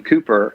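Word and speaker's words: Cowper: are amazing like William William Cooper which is spelled calper for anybody who wants to google it it's C OWP orbits France Cooper he was John Newton's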